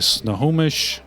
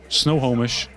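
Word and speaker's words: Snohomish: so you are going to break into the snow homish snow homish is how it's pronounced snow homish into the snow homish Medical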